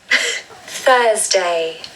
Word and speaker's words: Thursday: There's that TH sound, which is always challenging. So we must put our tongue between our teeth to make the initial sound, Then we add a Z sound. So we're not going to add an S. It's more of a Z.